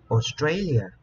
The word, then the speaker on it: Australia: I would Trade in Australia chúng ta sẽ nhấn âm thứ hai hai chúng ta sẽ